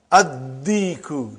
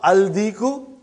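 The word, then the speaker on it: الديك: And when you will pronounce them with alif lam, you will not pronounce lam. Okay, look at this, brother. Come to number 3 and go down. Come to number 3 and go down. Addiku, not aldiku.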